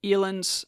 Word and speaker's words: Elin: I am so I'm trying so hard to pronounce eelain's name correctly consistently because it's not spelled that way anyway Elin Elin Maria pranaya Nordegren